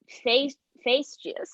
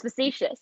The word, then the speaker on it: facetious: going to be, but it's just face juice. It's just facetious. It's easier than you think.